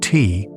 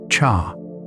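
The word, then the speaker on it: 茶: Both come from Chinese but from different dialects and different trade routes.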